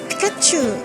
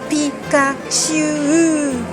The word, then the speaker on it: Pikachu: Satoshi mais plus dur Pikachu en France on aurait tendance à dire Pikachu ou Pikachu Pikachu il faut allonger Pikachu pour l'anecdote quel est